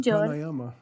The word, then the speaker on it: Prāṇāyāma: or long a's, and it's very important with Prāṇāyāma to know that the first a was short and the second a was a long a (ā).